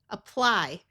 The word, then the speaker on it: apply: Apply. Note that this Y has a long I sound, although most of the time Y at the end of a word has a long E sound.